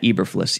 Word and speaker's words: Eberflus: coordinator matt i i always forget how to pronounce his name eberflus matt eberflis e-b-e-r-f as in frank l-u-s who was in